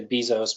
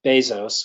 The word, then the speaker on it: Bezos: ones are Jeff Jeff Bezos is how he pronounces his name some people say Bezos but it's Bezos according to him and it's Steve Jobs and